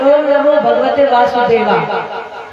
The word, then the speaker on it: ओम नमो भगवते वासुदेवाय: देखो इसका सही उच्चारण जो है हमने कुछ लोगों को देखा है जब इस मंत्र का जाप करते हैं तो जल्दी जल्दी करते हैं तो क्या बोलते हैं ओम नमो भगवते वासुदेवाय वासुदेवाय नहीं है ओम